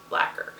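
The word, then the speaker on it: Blacquer: And Blacker is spelled B-L-A-C-Q-U-E-R. Blacker.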